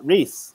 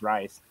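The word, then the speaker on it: Rhys: tradition i like it so your name is spelled r-h-y-s and for whatever reason i like i i just assumed it was rice um now that's a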